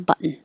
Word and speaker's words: button: So you have to have two syllables, button, button.